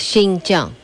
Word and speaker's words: Xinjiang: First China of all, how do you pronounce Xinjiang? Xinjiang, new province. Xinjiang. New? That's, new province. It's Xinjiang.